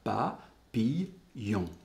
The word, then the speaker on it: papillon: raison orthographique à ça, papillon I2L-O-N, et ici il y a bien trois syllabes, pa-pi-yon.